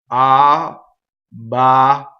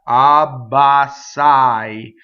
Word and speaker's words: abbassai: But you see, the whole first syllable was ah. The second syllable was ba. And the third syllable was sai. So when you go fast, abbassai, right? So it's legato, but it's separated like that for singing.